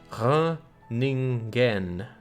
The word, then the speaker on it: Groningen: It's pronounced Groningen.